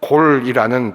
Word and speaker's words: 골: 이 단어가 히브리 명령형으로 사용되면 골이라는 발음으로 그렇게 표현이 됩니다.